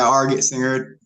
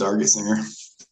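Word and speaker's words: Argetsinger: singer yes sir okay am I pronouncing your name correctly yeah arget singer just just say it in two words arget singer okay okay um and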